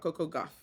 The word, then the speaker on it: Coco Gauff: He makes this post about tennis, about Coco Gauff, right?